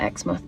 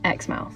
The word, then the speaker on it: Exmouth: Well, in the UK we have place called Xmouth and we pronounce it Xmouth, but it's spelled the same. In Australia, they pronounce theirs Xmouth. Xmouth. Okay. More like how it's spelled then.